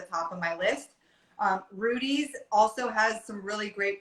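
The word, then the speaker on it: Rudi's: always at the top of my list um rudy's also has some really great breads for people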